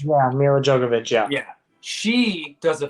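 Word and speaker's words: Milla Jovovich: How do you pronounce her name? Mila Jovovich? Yeah, Mila Jovovich, yeah.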